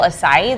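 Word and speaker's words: açaí: instead, and then I'll remember like, oh yeah, acai.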